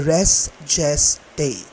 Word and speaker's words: res gestae: Iba-iba ang pronunciation ng Latin phrase na ito at ang gagamitin kong pronunciation ay restgest day.